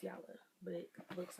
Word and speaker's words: Jala: an unboxing for yellow skin yes it's yellow pronounced yellow but it looks like jayla but it's pronounced yellow skin and i have